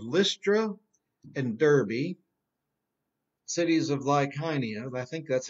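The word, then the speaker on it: Lycaonia: the cities of lystra and derby cities of lyconia and i think that's how i looked it up and listened to the pronunciation online that's how you pronounce it like heine although i used to say lyseonia and so they go from antioch east to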